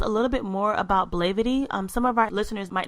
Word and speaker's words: Blavity: It's pronounced Blavity, not Blavity. Blavity. Perfect. So it's like black and gravity together.